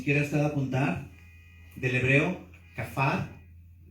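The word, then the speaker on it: כפר: Expiación, si quieres usted apuntar, del hebreo kafar, con K, A, F, A acento en la A y R.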